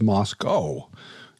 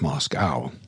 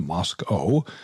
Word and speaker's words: Moscow: One thing I learned is that I've been mispronouncing the name of the town. It's Moscow, not Moscow.